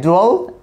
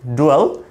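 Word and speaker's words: dwell: আছে এরপর আছে আই ডুয়েল in Dhaka I ডুয়েল এট মিরপুর আমরা যেকোনো একটি স্থানের নাম দেব সেখানে তাহলে ডুয়েল মানে হচ্ছে আমাদের বসবাস করা আমরা এটাকে ডুয়েল উচ্চারণ করতে পারি ডুয়েল নট ডিয়েল এরকম না এটা আমরা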